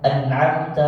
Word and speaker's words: أنعمت: Jadi nggak boleh an'amta 'alaihim. Bacanya berikan satu ketukan. An'amta.